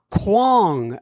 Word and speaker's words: Kwong: Kwong. Oh, I'm sorry. Hi, John. I'm Kwong, and it's pronounced Kwon. Kwon.